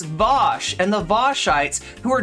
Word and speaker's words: Vaush: other hashtags you could use right and it's vosh it's vosh and the voshites who are dragging this thing